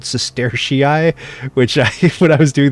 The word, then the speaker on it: sestertii: The bucks, by the way, are called Sestertii, which when I was doing the video for this, I had to look up how to pronounce that. Sestertia single, Sestertii plural.